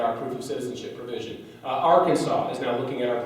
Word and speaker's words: Arkansas: I'm sorry, not Arkansas, Arkansas.